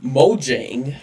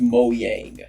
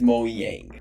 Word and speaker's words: Mojang: But because it is a Swedish company, then the way they pronounce it is Mojang.